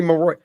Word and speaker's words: Marois: it's Mary Mar Mary there you go Zachary maroy okay so hold on so guys we do